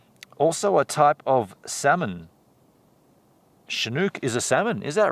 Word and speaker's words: chinook: a bit of it anyway pronounced like she chinook the first nations call it a chinook a storm or that warm wind a chinook cool word shenouk oh it's all dark over on walter peak